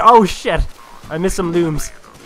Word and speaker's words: Lums: A lot of people call those things lums because it's spelled L-U-M-S. If you're a true Rayman fan, you'll know they're called looms.